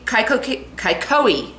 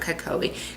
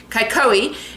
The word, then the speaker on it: Kaikohe: glass studio in kaihoki kaikohe not kokobi kaikohe in the bay of